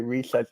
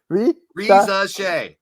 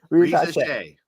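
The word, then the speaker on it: Risacher: I think it's gonna be Reset. I still can't pronounce it. Reza Shea. Reza Shea. Got it.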